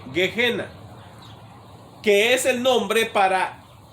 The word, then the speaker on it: Gehenna: En inglés no, suena como G-I-E normal y dice G. Y luego la H suena como J y dice Gehenna, que es el nombre